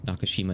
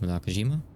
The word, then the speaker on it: Nakajima: The first time I said Nakashima instead of Nakajima, she ignored it so she could keep the conversation going smoothly.